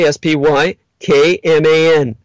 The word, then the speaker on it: Spykman: During World War II, the Yale geopolitical scholar Nicholas Spykman, surname spelled like spy, S-P-Y-K-M-A-N, Spykman pointed out that the